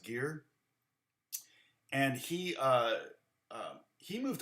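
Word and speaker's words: Gaer: his name was it it may have been pronounced gear and he uh he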